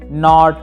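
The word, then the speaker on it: knot: तो इनकी प्रोनाउंसिएशन कुछ इस प्रकार से हो जाती है, नो, नाइट, नॉट, नाइफ और नॉक।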